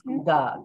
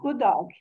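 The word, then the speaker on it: god dag: Okay, so you pronounce the G on dog. It's not good dog, it's good dog. Good dog.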